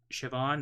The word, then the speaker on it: Siobhan: owner there have been an ancestor of uh siobhan that's how you say it say it i